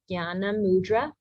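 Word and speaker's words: jñāna: in Lakshmi uh-huh or the JN which you will learn more about it's a nasal sound so J N um do you have you heard of Yana mudra is the one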